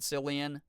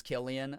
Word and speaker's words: Cillian: I think it's with a hard C. Killian, I think I remember Liz saying that's what it is. Yeah, Liz has corrected me on the proper pronunciation like 5 times before. Because ever since 28 Days Later, I think I've accidentally said Cillian. So it is Killian? Okay, Killian, but spelled with a C.